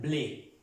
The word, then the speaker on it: blé: Trema es la palabra blé, que es en francés trigo y se pronuncia blé. Normalmente se pronuncia como lo pronunciamos en el español. Con este acento agudo se pronuncia blé, blé, el trigo.